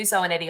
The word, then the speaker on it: Zoanetti: So yeah, Zoanetti on LinkedIn is a really easy way to find me. Fabulous. Rhymes with spaghetti.